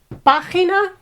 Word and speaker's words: página: In all these words, cámara, página, sílaba, because the accent is on the third one, we have to put tilde.